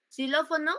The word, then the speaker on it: xilófono: suena como como ese esa x suena como s por eso es xilófono así entonces Esta es